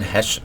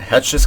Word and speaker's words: Heche: kind of subplot with Anne Heche Stephanie pronounced it hatches character where Julie that's